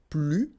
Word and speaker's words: plus: First structure, if you want to use this more, okay, so you will use this plus, and in that case you don't pronounce the S, okay, plus.